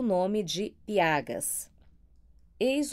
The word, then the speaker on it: Piaga: Os mesmos a que nos primeiros cantos dei o nome de piagas. Eis o que naquela obra escrevi a este respeito. Piagé, Piache, Piaie ou Piaga, que mais se conforma à nossa pronúncia.